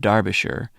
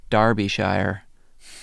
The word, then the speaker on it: Derbyshire: you get extra bonus points for the correct pronunciation of Derbyshire in the episode the dancing men not a lot of Americans get that right cheers Nick thanks Nick we're always tempted to say Derbyshire like she does yeah in the episode just